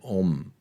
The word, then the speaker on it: Om: Bueno, no vamos a ir tanto, vamos a empezar con el om. Okay. Acostados. Inhalamos profundamente, retenemos y oh. Alargas la O y la m.